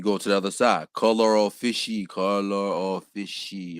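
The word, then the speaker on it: colore officii: This is pronounced color of fishy. This is a Latin word.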